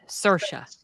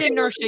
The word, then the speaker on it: Saoirse: again Sasha that's how you say her name inertia oh that's right you said inertia you said that and I couldn't I couldn't